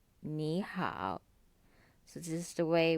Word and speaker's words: 你好: as desert toe Wow so instead of being pronounced as knee how it becomes me how Neha so this is the